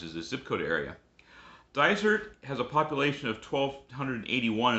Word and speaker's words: Dysart: Belongs to a place that's spelled D-Y-S-A-R-T and it's pronounced Dysart.